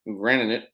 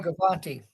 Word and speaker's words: Gravante: Mary's men's lacrosse coach, who is a friend of our program, Granite, will be joining us. Is that I'm saying it right, Adam? Gravante.